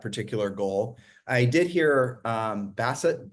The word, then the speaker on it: Bessent: I did hear Bassett, how do you pronounce his last name, Keith? Bessent, I believe.